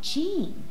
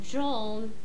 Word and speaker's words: Jean: right tell me about Jean hello it's pronounced John he was killed by